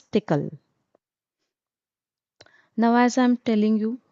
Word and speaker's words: TCL: language and this language we do not pronounce it TCL we pronounce it as tickle. Now as I'm telling you and as I've mentioned it earlier that in VSSI industry in EDA tools tickle is widely used.